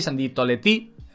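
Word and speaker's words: Sandie Toletti: aquí en tercer lugar sandy toletti sandy toletti que realmente sería la pronunciación francesa no bueno el gol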